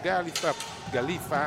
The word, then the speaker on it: Galiffa: Pietro Agostini, Mattia Ghirardello, Paul Galiffa anzi accento sulla prima I, e quindi Silvio Costenaro,